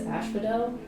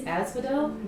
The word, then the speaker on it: Asel: because your name is ashel j asks technically it's Asel but they Chang the pronunciation because I leave Embers behind wherever I go I'm a